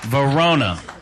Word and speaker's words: Verona: pronounce your name again Verona Verona as in Italy next we have Miss